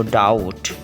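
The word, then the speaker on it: doubt: कोई शक नहीं है I have no डाउट डाउट में बी साइलेंट है आई हैव नो डाउट आप बहुत अच्छे लग रहे हैं।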